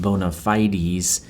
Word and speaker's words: bona fides: Okay, so he's establishing his bona fides, which Garner clarifies ought to be pronounced bona fides, because I think it